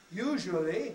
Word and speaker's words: usually: In fact, usually is usually 2 syllables.